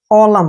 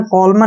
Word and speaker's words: column: N का उच्चारण हमने नहीं करना है। कॉलम, क्या पढ़ेंगे इसको, कॉलम। कॉलम मीन्स क्या होता है, खंबा। कॉलम मीन्स क्या होता है, खंबा, ठीक है ना। कॉलमन नहीं पढ़ना है, कॉलम पढ़ेंगे, खंबा।